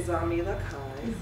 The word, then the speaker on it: Zami Lakai: And the first word is like mommy with a Z, so Zami. And then the second word is Lakai, and just like Pai, Tai, Lakai. So everyone say Zami Lakai.